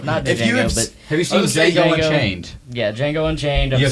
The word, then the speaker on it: Django: So, I don't think he's actually seen it because there's an entire scene in the movie about how the D is silent.